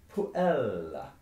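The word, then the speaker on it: puella: creates a long syllable the rule of stress tells us that if the penultimate syllable of a latin word is long you stress it and if it's short you stress the one before so our word por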